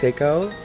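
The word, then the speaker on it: Sako: I dated a guy one time named Seiko, but it was without the I, so it was just S-A-K-O, and it's pronounced Seiko.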